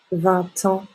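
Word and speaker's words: vingt ans: donc pour la phonétique on doit voir la liaison pour l'âge par exemple on fait la liaison parce que en commence par une voyelle d'accord la voyelle a vous allez voir il a 20 ans il a 20 ans il a 20 ans voilà donc comme si il y avait simplement un mot 20 ans une expression 20 ans il a 30 ans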